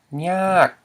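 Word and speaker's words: ຍາກ: We have the low consonant plus the long vowel and dead syllable, which equals a falling tone.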